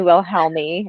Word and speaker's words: Wilhelmi: but this is Amy will help me is that how you say it will help me that's right okay so she's my